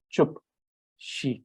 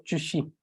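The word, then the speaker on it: བཅུ་བཞི: So you hear this word, the sound chupshi, and the p sound comes here because of this prefix, which is p added here. It makes it chup, shi, chupshi, or chushi, or chupshi. 14.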